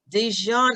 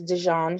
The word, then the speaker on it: Dejan: and real quickly um dejan i might be saying your name incorrectly and i apologize are you there are you there i'm here hello uh hello you said it right it's dijon okay thank you you're